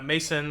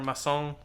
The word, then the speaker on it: Masson: So they also bring to the stand let's see Mason or Masson, probably is how you pronounce his name.